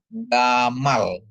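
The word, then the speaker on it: גָּמָל: Nah, terus ada email dikasih kamats, mem dikasih kamats ditambah lamet ya jadi bacanya gamal ya.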